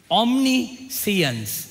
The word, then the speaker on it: omniscience: Omniscience அப்படித்தான் அதை உச்சரிக்கிறது.